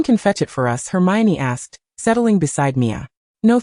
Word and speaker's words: Hermione: "Hermione," she annunciated slowly. "Hermine?" "No, it's Hermione. Hermine."